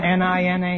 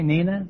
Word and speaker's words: Nina: Isn't N-I-N-A Nina? No, it's Nina.